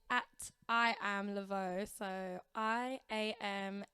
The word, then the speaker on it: Lavaud: on the app oh it's at i am leveaux so i am l a v a u d but it's pronounced leveaux um yeah and same on instagram and everywhere